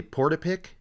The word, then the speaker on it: Portapique: But this sends Lisa back to, I wrote it out phonetically, Portapique.